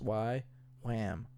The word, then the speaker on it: YWAM: also known as y way m YW am pronounced y lamb we unite in a common purpose to know